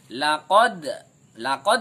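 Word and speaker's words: لقد: Kemudian ayat yang keempat, Laqad ini memantul. Laqad. Jadi cara bacanya memantul. Laqad khalaq. Jadi yang memantul itu laqad dal ya, bacaannya memantul.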